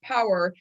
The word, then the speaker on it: PWR: So MetaPower, the meta stands for metabolic, and the PWR, which is pronounced power, stands for personal wellness realized, because you control your personal wellness, nobody else.